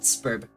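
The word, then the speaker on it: Sburb: They pronounce it Spurb.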